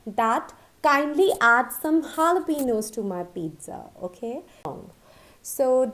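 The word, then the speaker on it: jalapeño: ano but it is not right the correct pronunciation is jalapeno a sewer jalapeno is our sweet and chili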